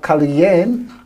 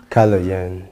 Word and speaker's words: Kaloyan: goes by the name, I don't want to pronounce it as yet because I'm still learning how it's Kaloyan. Kaloyan.